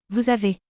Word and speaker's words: vous avez: Vous avez. Here the letter S is pronounced as Z.